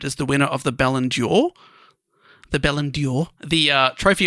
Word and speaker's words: Ballon d'Or: would be voted as the winner of the Ballon d'Or. The Ballon d'Or, the trophy awarded to the world's best players. Ballon d'Or.